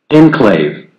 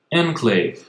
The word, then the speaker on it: enclave: нужно добавить произношение слова inclave enclave Ага ударение на первый слог enclave Отлично мы добавили звук